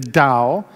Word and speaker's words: Tao: an ancient Chinese philosophy of Life called the Dow it's spelled Tao but it's pronounced d w the